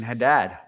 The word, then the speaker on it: Haddad: Next guy up is Nathan Haddad. $1,000. Added. Had it. Had it. Fuck. See, when he's around, I say it right. When he's not around, I just had it.